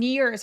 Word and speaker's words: years: 자, in years 할 때 ears 하면 귀처럼 들리거든요. ears가 아니라 입술을 살짝 내민 ears 해주시면 돼요. 귀처럼 발음하기는 하는데 입술을 살짝 내미는 거예요.